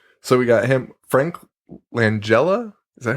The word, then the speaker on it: Langella: So we got him, Frank Langella.